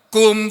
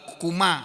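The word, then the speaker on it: كُمْ: diganti lain enggak bisa enggak bisa Kumu atau Kumu ee kuma atau Kumi enggak bisa bacanya Ya kum gitu ya mabni Alas sukun dia tetap di atas sukun Huruf terakhirnya ada dibaca sukun tidak boleh dibaca yang lainnya wa failuhu sedangkan fail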